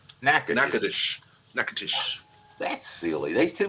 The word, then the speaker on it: Natchitoches: Oh, I know what that's Natchitoches.